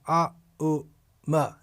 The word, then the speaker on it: Aum: In other words, Om is pronounced A, U, Ma. When these 3 syllables are joined together, A, U, Ma, then we get A, then we get Aum. Oh, it's written in English A-U-M.